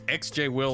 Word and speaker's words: XJ Will: It's XJ Will on social media, and the X is silent.